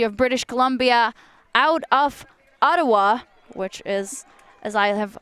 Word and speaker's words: Ottawa: Student at the University of British Columbia out of Ottawa, which is, as I have learned, the right pronunciation for the name of that place from our lovely co-commentator, Troy Weston.